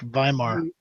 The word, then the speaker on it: Weimar: W's pronounced with a V in German. Instead of Weimar realize- Republic, Weimar.